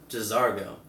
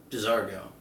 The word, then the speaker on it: J'zargo: me say it again uh where is it j'zargo j'zargo okay cool our servant class says we do